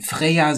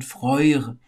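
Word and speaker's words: Freyr: eher von Vorjahr sprechen so wie ihr Bruder auch nicht freie heißt sondern freue da steckt auch etwas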